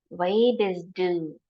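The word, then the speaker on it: wer bist du: means who are you let's see how to pronounce this W is do W is do who are you w is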